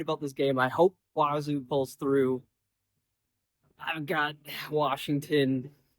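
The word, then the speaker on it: Wazzu: So, I guess the name Wazu, which is their Cougs's nickname, uh, comes from WSU, Washington State University. Guess if you say it like that, it sounds like Wazu or that's what they want it to say.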